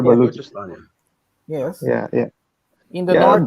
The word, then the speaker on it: Balochistan: I'm pronouncing Balochistan. Yeah, it's called Balochistan.